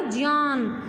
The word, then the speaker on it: ज्ञान: अगर हम सही शब्द का उच्चारण करें तो ये बनेगा ज्ञान, क्योंकि ये इसको हम ज्ञ, ये होता है ज्ञ, और ये ज्ञ किससे मिलकर बना है?